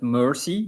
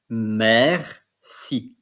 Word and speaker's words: merci: And it's not mercy, because mercy, it's M-E-R-C-Y. It's in French, merci. Merci.